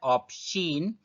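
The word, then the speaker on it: aubergine: इसका प्रोनाउंसिएशन होता है ऑप्शन।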